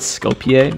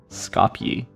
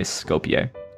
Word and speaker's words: Skopje: puzzle yeah i said scopier but i don't know how to pronounce it actually scopey or scopier or is it scop actually scopy but in us you can also say skopje yeah interesting interesting letters